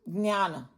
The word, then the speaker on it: ज्ञान: The way you pronounce it will be Jnana. Thoda sa nasal thing.